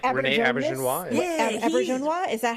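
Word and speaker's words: Auberjonois: Aubernjonois. Is that how you pronounce his name? Aubernjonois? Aubernjonois, yeah.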